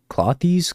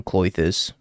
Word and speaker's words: Klothys: Is it like Klothys? Klothys? I never figured out how to pronounce this card correctly. Klothys? I'm allergic to Klothys. I always call him Klothys, but apparently that's not right. Like cloister.